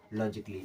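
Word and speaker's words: logically: पढ़ते हैं लॉजिक और लॉजिक में जुड़ गया ए एलवाई तो ए तो साइलेंट हो गया बचा क्या ली ये हो जाएगा लॉजिकली इसे क्या पढ़ेंगे लॉजिकली ऐसे कई सारे वर्ड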